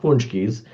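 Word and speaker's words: pączki: another no no no they're spelled paxis p a c z but they're pronounced punchies and you talk about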